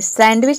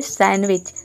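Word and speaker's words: sandwich: सैंडविच, इसको देख के सैंडविच नहीं बोलते हैं, ये होता है सैंडविच।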